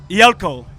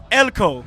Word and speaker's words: Eelko: Eelko. Eelko. It's a Dutch name, you know. Only you will hear it only in Holland.